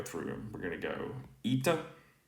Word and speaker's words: η: to be this now in modern pronunciation again this has become uh in classical this was uh a in modern this like i said it's a vowel sounds converged to e so the modern greek speaker would say ita here so let's go